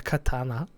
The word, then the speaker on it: katana: attack animation to block player attacks with a katana Katana how it's actually pronounced the Japanese by the way Katana Katana